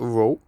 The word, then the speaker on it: rho: to find out more just google for row which is spelled as rho now one point one